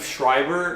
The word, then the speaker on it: Schreiber: he's voiced by Liev Schreiber and it's pronounced Schreiber not Schreiber I thought was Schreiber back then and I was